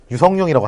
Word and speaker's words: 류성룡: 그래가지고 발음할 때 그냥 유성룡이라고 할게요.